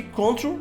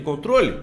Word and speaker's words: control: control out D certo só que não é control mas tantas vezes você ouviu a palavra control que você acha que control é a pronúncia de controle quando na verdade a pronúncia é como é que eu fala a pronúncia control control aí para facilitar o